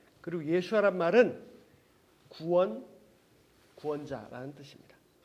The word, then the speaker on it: 예슈아: 원래 히브리어 발음은 예수아입니다. 예수아. 오히려 우리말 발음이 더 가깝죠. 그리고 예수아란 말은 구원자라는 뜻입니다.